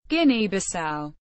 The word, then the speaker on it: Guinea-Bissau: Guinea-Bissau. Listen. ɡiઃnɛ-bi-SOW. Officially the Republic of Guinea-Bissau. Portuguese. República da Guiné-Bissau.